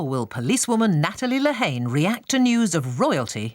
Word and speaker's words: Lehane: Lehane. Lehane.